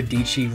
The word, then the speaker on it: Dietschy: The fourth vlogger that I love watching is who I tell my daughter is the older version of her, and that's Sarah Dietschy, rhymes with peachy.